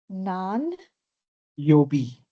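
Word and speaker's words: 何曜日: Nan, Yobi. nan Nan. yo. B. Nan yobi. Is it B or is it you? No, it's B. B-I.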